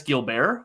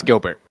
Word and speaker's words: Gilbert: we get into it is it Dennis gilar or is it Gilbert uh it's Gilbert okay that's what I thought I wasn't sure um if it had the French pronunciation on so I mean